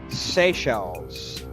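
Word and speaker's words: Seychelles: From what I'm seeing, those islands are pronounced Sey Shells.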